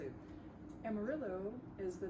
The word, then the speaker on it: Amarillo: Amarillo is the name of a color in Spanish. Yellow? Yellow, yeah, amarillo. It's not, actually in Spanish you don't pronounce it Amarillo, No, but it sounds like yeah, exactly.